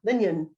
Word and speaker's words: Lingen: So Lingen, did I say it right? just did it wrong. Lingen, got it.